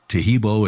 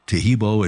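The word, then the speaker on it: Taheebo: Tahibo is spelled T like Tom, A-H-E-E-B like boy, O, then continue with the word tea and then the word club.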